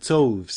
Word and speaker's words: toves: The I in slithy is long as in writhe, and toves is pronounced so as to rhyme with groves.